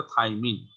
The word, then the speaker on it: thymine: Nitrogenous base কোনটা, এটা থাইমিন। থাইমিনের বানান এবং প্রনাউন্সিয়েশনটা একটু খেয়াল করতে হবে, THYMINE। এর কাছাকাছি আর একটা প্রনাউন্সিয়েশন আছে থায়ামিন, সেটা কিন্তু ভিটামিন B1, আর বানানটাও ভিন্ন, THIA।